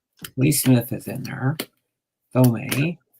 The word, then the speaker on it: Thome: Thome or Tome, or some people say it so many different ways. How do you say it? Jim Thome. What's that? Tome, that's what I thought.